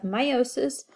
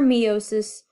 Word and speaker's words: meiosis: this whole chapter is about sexual reproduction and we're going to discuss the process of meiosis or meiosis both are acceptable pronunciations so let's dive